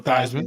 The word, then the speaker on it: Theismann: Joe Theismann rhymes with Heisman.